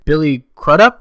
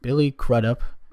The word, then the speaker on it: Billy Crudup: Billy Crudup, I think is how you pronounce it. Billy Crudup.